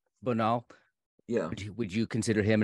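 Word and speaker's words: Bonald: Bonal.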